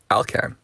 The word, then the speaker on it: ALCAN: to the pronunciation of a l a-l-k-a-n it is uh it is in fact alcan made me laugh listening to the way jeff pronounced it two different ways i had i was covering my bases uh never heard it pronounced alcan kind of made me think of vulcan anyway um again it